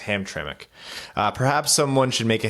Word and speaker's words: Hamtramck: haven't seen that word before but apparently it's pronounced Hamtramck perhaps someone should make a Hamtramck pronunciation guys